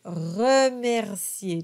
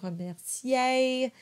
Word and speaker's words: Mercier: we have a good Mercier just really pronounce those R's of course the last R is an a sound and it's very important not to do Mercier there's no diphthong there it's a sound and then we have